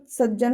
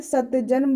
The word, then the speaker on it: सज्जन: तो यहाँ पर सज्जन होगा, नहीं तो ऐसे सत्यजन बोला जाए, लेकिन आपका सत्यजन नहीं सज्जन होगा उच्चारण में, तो यहाँ पर उसी शब्द को रखा जाता है नियम 4 के अनुसार।